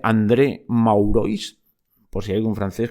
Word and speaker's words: André Maurois: Bueno, vamos al relato, a esta larga cita del relato, que os digo, André Magloire, supongo que se dice así, dicho tal como se pronuncia, André Maurois, por si hay algún